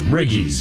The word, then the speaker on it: riggies: Oh, riggies.